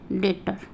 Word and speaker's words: debtor: आ जाए तो वहाँ भी हम बी को साइलेंट कर देते हैं। जैसे date, DEBT, date, doubt, DOUBT, doubt, और ये देखिए डेटर, DEBTOR, डेटर।